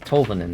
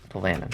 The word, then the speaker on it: Tolvanen: I think it's Tolvanen, not Tolvanen.